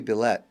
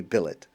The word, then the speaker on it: Billet: grateful to my colleague Rabbi AI belette I'm sorry Rabbi AI Billet I'm sorry I did the wrong pronunciation his name is Avi Billet a wonderful Rabbi and